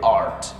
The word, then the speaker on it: art: Bukan earth, tapi art.